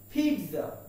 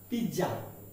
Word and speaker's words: pizza: That means ZZA or ZZA. The pronunciation is pizza, not pizza.